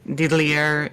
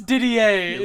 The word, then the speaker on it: Didier: Man, so I guess Diddlier is the ones that end up. Did I say it wrong? It's not. I guess Diddler ends up killing Michelle. I guess. It's Didier.